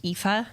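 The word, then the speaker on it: Aoife: So you know like the Irish name like EA.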